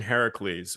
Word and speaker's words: Heracles: overly simplify Malta the operation Hercules Heracles you want to say it properly operation Heracles which was supposed to